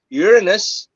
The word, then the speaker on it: Uranus: Uranus, tamang pagka-pronounce, Uranus, Neptune, tsaka yung Pluto is 1 out of 43,999 packs.